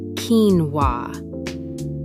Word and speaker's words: quinoa: Just 2 syllables, pronounced quinoa.